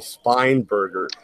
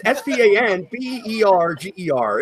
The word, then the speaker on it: Spanberger: He's wiping the floor with this Abigail Spineberger. What the fuck is going on here? Spineberger? What the fuck is that? That's like my pronunciations were horrible. Spanberger? No, it's Spanberger. It's fucking Spanberger, motherfucker.